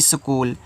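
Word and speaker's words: school: सी दिया है तो यहां पे देखो आपका जो एच रहता है ना ये आपका साइलेंट रहता है यहां पे ये आपका एक इंग्लिश वर्ड है ये तो ये आपका एच साइलेंट है इसमें सी को का के रूप में पढ़ा गया है डबल ओ बड़ा ऊ का मात्रा एल आपका ल लगाया है तो यहां पे स्कूल हुआ है ठीक है चलो देखो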